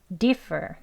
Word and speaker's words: differ: 그리고 뒷단어는 앞에 강세 있어서 differ 하고 뒤에는 힘 다 빼시고 무기력하게 발음하시면 되겠습니다.